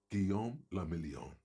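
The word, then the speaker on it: Guillaume Le Million: For Revachol, your city, that meant only one thing: Guillaume Lamillion. If it doesn't rhyme, you're not pronouncing it right.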